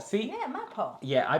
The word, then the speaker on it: Mapo: Mickey pronounced it right. It is Mapo. See? Yeah, Mapo.